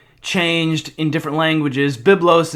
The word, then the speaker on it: Byblos: Byblos is the Greek pronunciation, or the Greco-Roman pronunciation that we use in English, but you can see